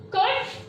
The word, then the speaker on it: could: Now, all of you pronounce it again. Wood, could, should. So, which letter is silent here while reading? Which letter is silent here while pronouncing? It is L. L is silent here.